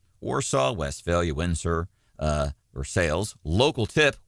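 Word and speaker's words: Versailles: West Valley Windsor uh or sales local tip we pronounce the L here all without leaving the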